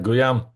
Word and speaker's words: Guillaume: All right, Guillaume, did Yeah, I say it right?